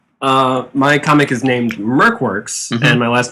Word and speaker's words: MercWorks: an idiot yeah so Merk works it Rhymes yeah and it Rhymes it's it's a little